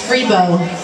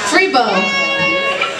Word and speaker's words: Freebo: She used to have a bass player that played tuba, and his name was Freebo. Free what? Freebo. I don't know how you spell that.